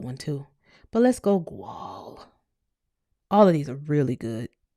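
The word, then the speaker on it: Guale: Repeat after me. Guala. Pronounce Wally.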